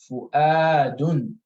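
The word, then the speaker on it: فُؤَادٌ: All right, you're not pronouncing the Waw here. And so this is Fu'adun, right? Fu'adun, right? Or you. You see the Hamza is pronounced here with the sukun.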